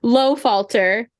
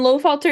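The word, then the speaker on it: Lohfalter: because she is called and I'm going to a pronunciation low falter by Capitano and low falter is German which we say that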